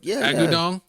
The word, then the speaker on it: Agudong: Say it like Agudong.